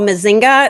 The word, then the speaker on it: Mzinga: So there's a company called Mazinga. It's spelled Mzinga.